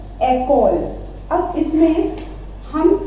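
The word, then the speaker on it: école: ये एक्सेंट नहीं होगा तो हम इसको क्या पढ़ेंगे? Akola. But with this accent ई बन गया ए, तो इसको हम बोलेंगे एकोल. ठीक है, एंड एकोल means school. एकोल means school. तो इसका प्रोनाउंसिएशन चेंज हो गया ना, तो ये प्रोनाउंसिएशन चेंज करने के लिए एक्सेंट लगाया जाता है. ओके, ई के ऊपर एक्सेंट है इसलिए ये बन गया एकोल.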